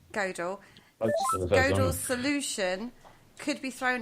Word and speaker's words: Gödel: You were right the first time. Gödel.